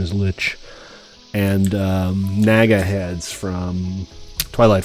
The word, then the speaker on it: lich: The leech, lich, I think the proper pronunciation is lich, and Naga heads from Twilight Forest, people.